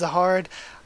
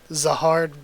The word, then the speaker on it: Zahard: I just don't like the name Jihad that much, and phonetically it's more like Zahado. So because that's more of the phonetics of it, I kind of like it starting with the Z.